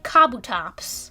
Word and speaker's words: Kabutops: kabutops kabu tops pronunciation i always used to say kabutops this one says kabutops yeah because it's kabuto kabutops kabutops is also kind